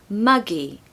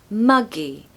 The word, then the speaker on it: muggy: cold here pronunciation tip you want to stress the first syllable so mug muggy muggy it's almost like a soft sound at the start so muggy number two to cool